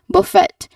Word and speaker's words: buffet: So the um second syllable it sounds like fairy. The first syllable in the word fairy.